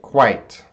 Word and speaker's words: quite: make a sound right quite there's you see two vowels you see the I in the e but the e doesn't make a sound it's quite quite that's one syllable quite quite alright the